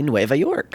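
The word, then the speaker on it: Nueva York: okay well uh well it's just New York and Spanish NOA York really that's how you say it in Spanish yeah really you know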